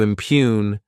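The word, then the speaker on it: impugn: the verb impune to impune this word has two syllables and the stress is on that second syllable what it means is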